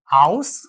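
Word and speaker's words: Haus: പറയുന്നത് ശ്രദ്ധിക്കുക ഇഷ് കൊമേ ഔസ് ഇന്ത്യൻ ഔ ഔസ് എന്നാണ് പറയുക നമ്മൾ ഔഷധത്തിന്റെക്കെ ഔ എന്ന് പറയില്ലേ ആ ഒരു ഔ എന്നുള്ള ഉച്ചാരണം വരും അതിന്റെ കൂടെ എസ് ചേർക്ക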